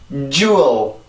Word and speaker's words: jewel: 이음절이고 강세가 첫 번째 음절에 있어요. 그죠?